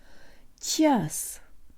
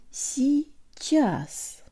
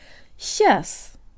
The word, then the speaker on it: сейчас: The ch is soft, so the tongue is high, and there's almost a y sound built in. Сейчас.